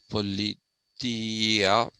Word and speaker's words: politeia: are creating this politia it's actually politia that's how it is supposed to be pronounced politia is the safeguard